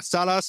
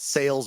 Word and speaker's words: Sales: in south francisco de salas brazil cool nice i thought you were going to call it sales brazil for a second that's how it's spelled i was thinking about